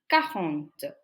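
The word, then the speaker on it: quarante: do we say 40 the number 40 is cahont now plus five Cajon sank so in order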